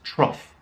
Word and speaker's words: trough: simple it's just cough one other word we use with the same pronunciation is trough our trough is basically